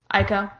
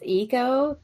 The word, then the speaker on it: Aiko: Aiko. So, according to Marissa, it's Eiko, but because the audiobooks say Aiko, she says that it's just both now.